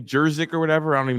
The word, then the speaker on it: Juszczyk: Jerzik or whatever? I don't even know how to pronounce his last name. The only Juszczyk, yeah. Yeah, Juszczyk, the only famous fullback in the NFL.